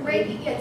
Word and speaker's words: Reiki: It's Reiki. Yeah, It's spelled R-E-I-K-I, pronounced Ray.